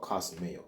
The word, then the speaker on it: kosmeo: into this word and the word is called cosmeo it's spelled Kos m e o it's a word